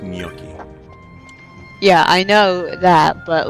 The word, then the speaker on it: gnocchi: if you're talking about the first thing that's pronounced gnocchi yeah i know that but like the name